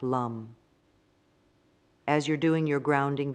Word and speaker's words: lam: the root chakra the sound is lamb pronounced like Lum as you're doing your